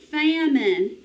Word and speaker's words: famine: pickled people are hungry famine tell me the sounds you hear in famine get ready famine remember it's that schwa sound of the eye famine okay guys let's